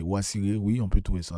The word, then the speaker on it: Osiris: Elle a été arbitraire donc on dit Osiris mais personne s'appelle Osiris en Égypte euh en tout cas ancienne. C'est Wasiré.